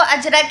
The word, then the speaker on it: अजरक: मैंने सारी चीज़, हाँ अदरक, अदरक नहीं बेटा, अदरक मत पहन जाना। अदरक, अदरक नहीं है वो, अजरक है, नॉनसेंस।